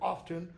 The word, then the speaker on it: often: I don't pronounce it often because the pronunciation often is what's called a spelling pronunciation. It's only been in the last 100 years or so that that T has been pronounced. It used to be silent.